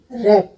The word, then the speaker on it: wrap: इसी तरह मैं कुछ और वर्ड्स आपको बताती हूँ कहाँ कहाँ डब्लू साइलेंट होता है। Wrist, WRIST, wrist. Weather, WHETHER, weather. WRAP, रैप, answer, wrong.